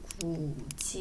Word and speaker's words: 굳이: 굳이 그럴 필요 없잖아 근데 이거는 굿이 이렇게 발음하지 않고 지금 보이시는이 디귿 의문이네 위로 가죠 그래서이가 아니라지 구지 발음할 때는 구지 이렇게 발음이 돼요 그래서 이런 것들을 우리가